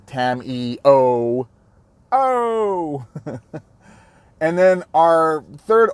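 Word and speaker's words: Tamiyo: It's pronounced Tamio. Tam-E-O.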